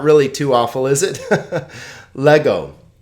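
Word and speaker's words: λέγω: Lego. Le-go, right? 2 vowels, 2 syllables.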